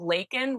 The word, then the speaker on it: Lacon: It's called Lacon, rhymes with bacon.